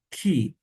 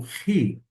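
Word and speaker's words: Χ: A pronúncia desta letra que está na forma maiúscula, alguns vão chamar de ki. Eu vou pronunciar como ri, ri. Então vai ter um som aproximado do CH em alemão.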